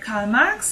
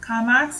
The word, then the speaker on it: Karl Marx: Classical definitions of social class have mainly been provided by Karl Marx and Max Weber. So I'm using the German pronunciation since both are German. So Karl Marx again and Max Weber.